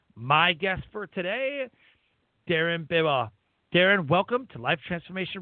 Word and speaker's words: Bibeau: It's Bibeau, but the problem is when people read it, they overthink it. So if you just say it fast, it just slides by everyone and you're good.